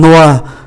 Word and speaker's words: noix: Une noix là hạt óc chó, une noix không phát âm ký tự X.